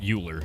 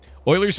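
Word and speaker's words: Euler: Basically, you turn it into an Oiler angle, which is pronounced Oiler, not Uler. Even though it looks like Uler, after all that, are you awake yet?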